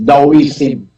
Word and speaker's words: Taoism: yung taoism kung pronounce yan sa Chinese daism eh tapos 599 years